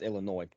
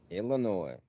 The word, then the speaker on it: Illinois: Well, there's no noise in Illinois, so it's just Illinois. S is silent. Illinois.